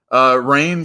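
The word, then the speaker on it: Rahne: Ron. I think it's Rain. I think it's Rain. Yeah. I agree. It's Rain. I think Marvel Age. I saw it pronounced that way in Marvel Age.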